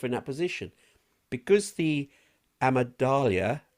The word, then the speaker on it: amygdala: I can't do that," or "I better not put myself in that position," because the amygdala, I can't say Amygdala. that. Amygdala. I like how you're pronouncing that. Amygdala, because it is smaller,